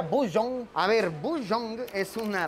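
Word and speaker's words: Boseong: Esta hamburguesa Bujeong Green Tea, que se pronuncia Bujeong.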